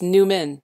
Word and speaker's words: Newman: It's Newman, like Seinfeld Newman.